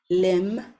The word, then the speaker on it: limb: middle of the word, you know that the B is silent and we don't pronounce it.